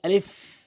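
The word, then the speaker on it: ألف: প্রথম হরফটি হচ্ছে আলিফ আলিফ বললে হবে না ভুল উচ্চারণ এটি সঠিক উচ্চারণ হচ্ আলিফ উপরের দাঁতগুলো নিচের ঠোটের উপর দিয়ে রাখবেন এবং এভাবে বাতাস বের করে আলিফ এভাবে বলার চেষ্টা করবেন।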